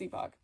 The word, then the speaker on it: Epoch: to force myself not to say Epoch and instead say epic but then I met with the actual Japanese Epoch people at toy fair and it's Epoch so please don't tell